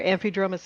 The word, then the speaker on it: Amphidromus: Like, so I learned it as amphidromus, but I have had it pronounced to me differently.